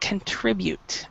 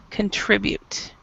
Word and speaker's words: contribute: word you know you we actually pronounce it contribute so the stress is a little bit different than what you said contribute contribute contribute and and then of